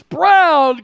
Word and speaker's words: Braun: bounds by Christian Braun Brown spelled Brawn I said it right earlier you think Brawn in your head then you say Braun that's hilarious Lonnie Walker